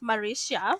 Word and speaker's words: Marisia: so I want to make sure that I'm pronouncing her name right it's mauricia so I am here to introduce her so